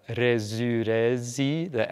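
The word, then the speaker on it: resurrexit: Another difference is resurrezi, the X, which in modern Latin from pretty much everywhere would be pronounced X, K-S. It, at that time, was resurrezit.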